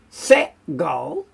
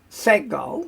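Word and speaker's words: segol: and then we have set goal set goal so it's an e sound zere which is a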